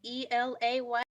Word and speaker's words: Elay: All right, hey world, it's me, LA, Elay, pronounced like the city.